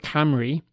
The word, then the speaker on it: Cymru: The Red Wall of Cymru, to give Wales its Welsh pronunciation, hopefully, in its own language, fulfills all the requirements of a good football anthem.